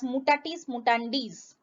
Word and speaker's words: mutatis mutandis: The actual word pronounced as mutatis mutandis.